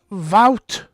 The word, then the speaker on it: Wout: It's pronounced Wout.